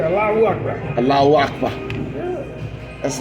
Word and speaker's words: Allahu Akbar: Allahu Akbar. Allahu Akbar. All those syllables have to be expressed.